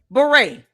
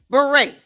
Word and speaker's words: beret: You know, beret only has five letters. Two syllables. Beret. Beret. Two syllables, five letters, and she butchered it.